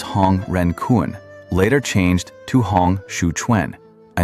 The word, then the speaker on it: Hong Xiuquan: Hong Xiuquan, pronounced roughly Hong Xiuquan.